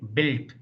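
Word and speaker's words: Bild: So here K-I-N-D should be pronounced like kint, kint, kint. K-I-N-D, kint. D becomes T. Similarly, B-I-L-D, built.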